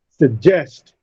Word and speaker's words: suggest: Similarly, in believe, canal, suggest. Now these words receive a stress on their second syllable. Leave is stressed in canal, nal is stressed in suggest, jest is stressed.